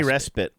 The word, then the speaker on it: respite: Thanks as always to Luke and Andrew for providing our daily respit from the Do you say respit or respite? I say respit. I think respit is the right way to say it.